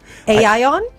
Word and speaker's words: AION: a particular is it Aon Aon is it a how's it pronounced a ion this is a Chinese car spell a i o n so it's AI as